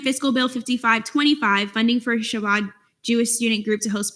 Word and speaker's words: Shabbat: Shabbat Jewish Student Group to host Mega Shabbat in UCF Pegasus Ballroom on February 23rd, 2024 to FAO.